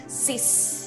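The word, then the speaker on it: six: yang keenam itu tetapi bunyinya beda ya bunyinya Sis ya jadi X yang di belakang itu tidak dianggap sebagai X ya kita anggap sebagai es Sis dibacanya ya nahawa khawatirnya kita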